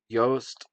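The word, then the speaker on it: Jost: stars uh chloe grace um moretz uh colin yoast is how we pronounce it right right right mr uh scarlett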